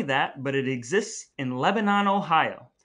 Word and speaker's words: Lebanon: but it exists in lebanon ohio not to be confused with lebanon the country that all the students i work with pronounces lee bannon because they've never heard of it but kitchenette is an